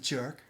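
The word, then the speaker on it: Björk: It just, I think it's pronounced Bjork.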